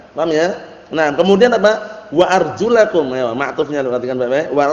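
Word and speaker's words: وأرجلكم: Kalau antum bacanya wa arjulikum berarti maknanya apa? Dan cucilah kaki kalian. Basuhlah. Artinya ini basuhlah. Berarti diusap aja gini, cukup kata mereka. Paham ya? Itu keliru.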